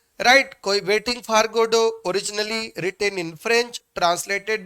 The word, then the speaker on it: Godot: अब जाइए गूगल पर स्टोरी सर्च करिएगा वेटिंग फॉर गोडो की, और फिर देखिएगा। हाँ, याद रखिएगा GODOT लिखा है, गोडोट, बट इसको गोडो पढ़ते हैं, फ्रेंच नेम है, टी लास्ट वाला जो है वो साइलेंट है, एंड गोडो इज नॉट गॉड, ये भी याद रखिएगा।